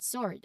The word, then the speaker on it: sword: Additionally, remember those few specific words where the W is silent even when it's not before an R, like answer, to, and sword. Of course, these words are common, and recognizing their silent W is key for accurate pronunciation.